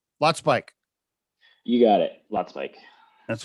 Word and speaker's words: Lotspeich: It's Lotspeich, right? Lotspeich. You got it. Lotspeich. That's what I thought. Okay. All right, man. We're going to get rolling. I was actually, I grew up pronouncing it Lotspeich.